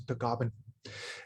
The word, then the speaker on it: Tagaban: And on my Filipino side, my last name is Tagaban. In the Philippines, it's pronounced as Tagaban.